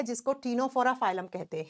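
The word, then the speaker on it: Ctenophora: निकला हुआ है जिसको टीनो फोरा फाइलम कहते हैं तीन नंबर प आता है स्टूडेंट्स टीनो फोरा लिखा जाएगा सी से प्रोनाउंस किया जाता है टी से नो फोरा सेम नाम हिंदी में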